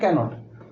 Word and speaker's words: cannot: সো আই ক্যানট পুট up with, I ক্যানট, বলে দিচ্ছি এটা কিন্তু ক্যান নট নয়। ক্যান আর নট আলাদা থাকলে উচ্চারণ ক্যান নট, আর একসঙ্গে থাকলে ক্যানট।